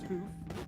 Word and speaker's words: hoof: It's pronounced hoof.